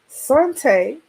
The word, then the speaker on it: Saunte: Saunte Harden-Tate, pronounced Saunte, like you saute, but it's Saunte.